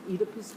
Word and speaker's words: Oedipus: from the Greek word, especially if you pronounce it Oedipus, which the British do, oida, which means to know.